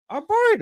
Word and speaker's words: Arboretum: That word just doesn't seem like it's pronounced there. There's a T there. Arboretum.